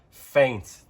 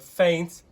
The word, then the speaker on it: feint: The same pronunciation, a different spelling.